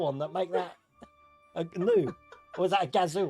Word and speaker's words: GNU: What does GNU stand for? Graham Loki? It's a gnu. A GNU? What's it? That's how you pronounce it.